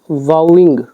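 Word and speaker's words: vowing: फिर कॉमा डाल के बता रहे हैं वॉइंग, ये जो होता है वाउइंग, ठीक है, तो ये प्रोनाउंसिएशन होगी और इसका मतलब था शपथ लेना।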